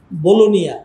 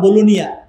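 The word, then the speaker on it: Bologna: চট্টগ্রামের মত বাণিজ্যিক নগরী বলুনিয়া ইংলিশে লেখে বলগনা উচ্চারণ করে তারা বলুনিয়া সেখানে প্রোগ্রামে মাহফিলে গেল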